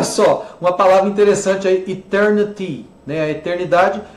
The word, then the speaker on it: Eternity: E o brasileiro tem a tendência de comer o Y, fala Eternity. Não é Eternity, é Eternity, né? Y tem que pronunciar.